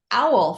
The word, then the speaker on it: AAUL: and it's called the owl framework and yes we pronounce it like owl the bird but it's really a-a-u-l and so let's just